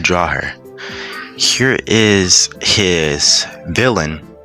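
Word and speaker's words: Vylyn: Here is his villain. Her name is villain but it's spelled v y l yn.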